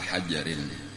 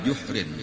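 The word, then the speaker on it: جحر: Lalu seterusnya yang kedua dilihat oleh Nabi kita wa ata ala hajarin. Ada salah. Wa ata ala juhrin, itu membacanya kalau itu jim dahulu.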